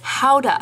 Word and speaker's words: Gouda: And for the cheese, I'm definitely gonna be using some Gouda, but I'm pretty sure that Maeve would pronounce this howda, because that's how they pronounce Gouda where she's from.